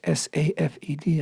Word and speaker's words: Safed: northern city of Sfat, spelled in English S-A-F-E-D, I guess pronounced Safed, but in Hebrew it's Tzfat.